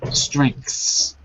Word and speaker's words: strengths: yes on your strengths it was a pronunciation problem strengths exactly say it for me strength strength okay that was better I just need to hear that S at the end strength it's hard it's